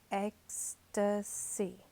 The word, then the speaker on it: ecstasy: I would die in ecstasy. 3 syllables, ecstasy.